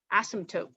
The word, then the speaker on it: asymptote: pen asymptote okay and has a silent p in there asymptote okay an asymptote is